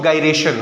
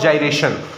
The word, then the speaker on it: gyration: Radius of radius of गरेशन। Radius of जाइरेशन। जाइरेशन या गरेशन अलग-अलग लोग इसको अलग-अलग प्रोनाउंस करते हैं।